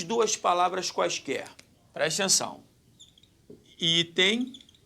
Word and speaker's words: item: Qual é a sílaba tônica em item? É item ou é item? É item. Então, aqui a sílaba tônica está aqui. Então, nós temos uma paroxítona.